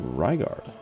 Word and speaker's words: Rygard: Um, Rygard. Rygard. Rygard. Pronounced Ryguard. Don't get it wrong.